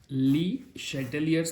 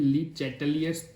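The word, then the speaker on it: Le Chatelier's: या फिर इसको हम ली शैटेलियर्स प्रिंसिपल भी कहते हैं, या फिर ली चैटेलियर्स प्रिंसिपल भी इसको कहते हैं। दोनों में से कैसे भी प्रोनाउंसिएशन किया जाता है, ली शैटेलियर्स और ली चैटेलियर्स प्रिंसिपल।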